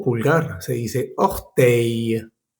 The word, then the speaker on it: orteil: Algunos ejemplos es, por ejemplo, despertador, réveil, o pulgar, se dice orteil. No pronuncies esas L's al final, ¿vale? Réveil, orteil. No se dice réveil ni orteil. La L no se pronuncia.